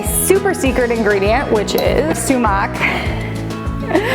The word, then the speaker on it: sumac: One, my super secret ingredient, which is sumac, which I was just told is pronounced sumac and not sumac, so there's that, by my half Middle Eastern husband.